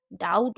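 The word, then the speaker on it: doubt: जैसे डैट हो गया, डाउट हो गया। डाउट में हम वी नहीं पढ़ते हैं, तो यहाँ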